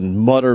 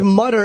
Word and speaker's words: Mutter: It's a harder U. Is that hard? If it was Mutter, it would be M-U. What is it, M-U-E or something? M-U? How do you spell it, Travis? M-U-T-T-E-R. Oh, it is spelled Mutter, but I think the umlaut makes it a U. E. Otherwise, it would just be Mutter. Yeah, it's Mutter.